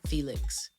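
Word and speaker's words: Phoelix: And it has Ant Clemens, it has Aaron Ray, it has, I think his name is Felix, but it's spelled P-H-E-O. Nope. P-H-O-E-L-I-X. Felix. So it's like a fun spelling of Felix, but this dude's voice is amazing and I love it.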